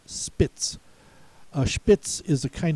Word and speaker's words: Spitz: The first TZ word is Spitz, also pronounced Spitz.